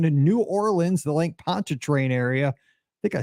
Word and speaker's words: Pontchartrain: we're heading down to New Orleans the Lake Pontchartrain area I think I said that right with